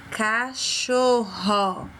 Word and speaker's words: cachorro: Cachorro. Observou o som do R? Cachorro. Então, um R ou 2 R's? Ele manteve o seu som normal, cachorro. Então, vai ser 2 R's.